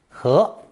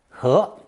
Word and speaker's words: 盒: one for a box, pronounced second tone, 和, 和.